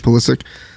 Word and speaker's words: Pulisic: Pulisic.